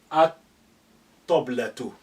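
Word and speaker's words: الطبلة: Therefore, the L, the sukun on lam, is being suppressed and deleted. We say at-toblatu.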